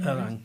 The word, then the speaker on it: Erlang: I think the only other language that has virtual thread is Erlang. Am I pronouncing that correctly? Erlang, yeah.